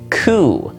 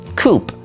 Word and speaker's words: coup: The fourth one on this list is a French word coup. Now, obviously, this word is spelled C O U P. And there is one big problem with it. Well, there is a silent P in the word.